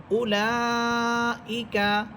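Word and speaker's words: أولئك: তো এই ওয়াওগুলো শুধু লেখার মধ্যেই থাকবে, পড়ার মধ্যে আসবে না।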